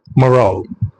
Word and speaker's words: morale: இது எப்படி ப்ரொனவுன்ஸ் பண்ணணும்? மொரால்.